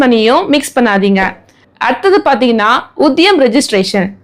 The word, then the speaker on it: Udyam: அடுத்தது பாத்தீங்கன்னா உத்தியம் registration, UDYAM, இதை உத்தியம்னு ப்ரொனவுன்ஸ் பண்ணலாம்.